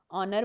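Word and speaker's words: honour: ऑनर में भी H silent है।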